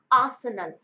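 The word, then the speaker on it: arsenal: इसका सही प्रोनाउंसिएशन क्या होता है? आसनल। आर इसमें साइलेंट होता है।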